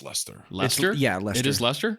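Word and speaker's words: Leicester: Maple Hill Disc Golf in Lester Massachusetts USA leester leester I believe it's pronounced Lester Lester yeah Lester ler it's like wierer ah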